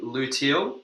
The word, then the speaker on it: luteal: So the luteal phase, is that Hmm.